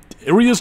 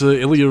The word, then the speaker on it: Illia: that it is goddammit i keep on going back and forth on her name aria's just easy to pronounce but elia is what the game calls her so i guess to